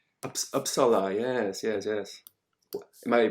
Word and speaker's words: Uppsala: showed us some Viking graveyards, and we had Uppsala. Uppsala, yes. Am I pronouncing it correctly?